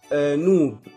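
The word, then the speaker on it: ⲛⲟⲩⲃ: أمثلة زي مثلا نوب. نوب يعني ذهب، بيتنطق هنا ب.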